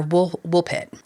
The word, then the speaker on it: Woolpit: They wandered through the darkness and when they finally came out, they were in fields near wool wolf pit.